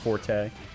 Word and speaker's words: Forte: Is it Fort or Forte? Is that even how you would spell something being pronounced Forte? I believe it is. Like the musical expression.